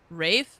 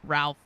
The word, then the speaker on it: Ralph: Not Ralph Fines. Who would say it that way? Ridiculous. No one would say that for their whole life up until this point. Uh, I've always called him Rafe Fiends.